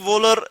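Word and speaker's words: Wöhler: इसने क्या किया फ्रेडरिक वोलर इसको हम प्रोनाउंस कर सकते हैं फ्रेडरिक वोलर और इसने यह किया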